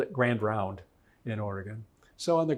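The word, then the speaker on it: Grand Ronde: knew her lineage on the reservation that it's pronounced it looks like it's it's called Grand R but everybody called it Grand round in Oregon so on the grand round reservation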